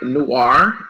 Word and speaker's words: Noire: Yes, the name of my company is the Wine Noire, Noire, and what Noire means is French.